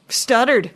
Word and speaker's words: Studard: Nuys, and it's Studard. Is that correct? That's me, Studard. Studard. Yeah, there you go. I like it. It's. I wanted to emphasize, make sure I was saying all the syllables.